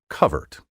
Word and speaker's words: covert: the righteous cause of preserving the traditional pronunciation, covert, C-O-V-E-R-T.